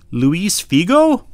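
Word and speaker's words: Luís Figo: than he plays for portugal his name is luis figo that's how he pronounces it this is an autograph card and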